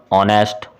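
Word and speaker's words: honest: अगला क्वेश्चन है ही इज़ डॉट डॉट डॉट ऑनेस्ट मैन। यहाँ पे ये जो एच है वो साइलेंट है, तो इसको पढ़ेंगे ऑनेस्ट।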